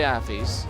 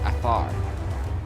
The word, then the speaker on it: Afar: And I can say Affis because they are, no wait, Afar. Afar. Forgive me. I mispronunciated it.